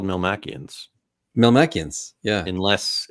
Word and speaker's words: Melmacian: I'm a Melmatian. Oh, sorry. Will we ever get a space eam? That we've gotten that question as well. Eam Spelljammer. They do pronounce it Melmacian, the cartoon theme song.